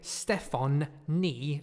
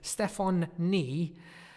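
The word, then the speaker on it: Stefonknee: K n ii ii ok Stefan knee like the knee of your leg Stefan knee Walsh not spelt in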